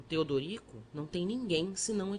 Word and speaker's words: Teodorico: O padre triste perguntou-me o meu nome, que eu pronunciava Tedrico. O outro, amorável, mostrando os dentes frescos, aconselhou-me que separasse as sílabas e dissesse Teodorico.